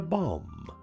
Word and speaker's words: bomb: In some words, the letter B appears but is not heard. We call this the silent letter B. The silent letter B comes before the letter T, but not always.